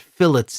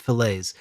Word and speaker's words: fillets: it is I think I'm pretty sure they pronounce it fillets not filets um so they they